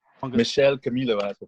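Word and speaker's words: Michel Camilo: So we're gonna go ahead with the first song that, and this is by a pianist called Michael Camilo. Michelle Camilo, I have to pronounce it, but I could be wrong.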